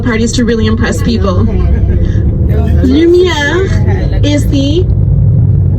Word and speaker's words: lumière: So if you ever see something that's spelled just with a U, like lumière, so you pronounce it like this, U. So you purse your lips.